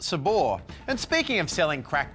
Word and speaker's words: Sabre: for Head First with Sabre Bradley, and then get comfortable for How to Get Rich Selling Crack to Kids, or something like that, here on ABC2. Interesting fact, it's actually pronounced Sabor.